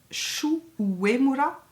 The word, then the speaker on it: Shu Uemura: Le recourbe-cils Shu Uemura, Vous avez vu comment je le prononce bien à la japonaise?